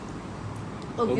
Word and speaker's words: Ogilvy: Back in the day, I used to mispronounce Ogilvy.